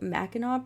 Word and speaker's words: Mackinac: right oh yeah big time what about the Mackinac Bridge what is it yeah the mat actually I'm really impressed that you pronounce Mackinac correctly but yeah Mackinac Bridge which